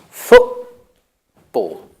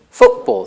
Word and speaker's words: football: want the other pronunciation pronounce the T as the glottis so what you do is you're closing your glottis there's no air the